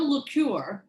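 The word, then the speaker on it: L'Ecuyer: So my friend Lecuyer, did I say it right?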